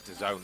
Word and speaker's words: DAZN: a i don't know you say it like the zone or dazzling or whatever it is like yeah i think it's the zone they want it to